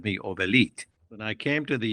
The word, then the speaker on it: Obelit: growing up in Iran everybody everybody called me Oelite.